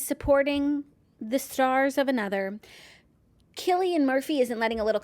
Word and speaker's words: Cillian: attempt to pronounce correctly Chilean Murphy says kill Killian I think and not psyllium I'm not sure Killian